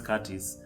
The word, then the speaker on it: Curtis: And just in case you are new and you are wondering who is Soila and who is Curtis, I am Curtis with a silent T.